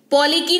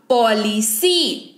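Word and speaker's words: policy: है, वाई पढ़ेंगे, पॉलिसी, पॉली की नहीं पढ़ेंगे, क्यों, क्योंकि अभी स को उच्चारण पढ़ रहे हैं, कब, जब सी के बाद ई आई वाई हो, तो सी का उच्चारण स होगा, जिसके तहत ये शब्द बन जाएगा पॉलिसी, क्या बन जाएगा, पॉलिसी।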